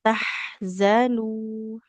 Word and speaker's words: تحزنوا: Nah, jangan jadi jim ya. Bu. salah Zazizu. saja. Eh, dari likaila saja ya. Coba Ibu. Ya, Likaila tahzanu.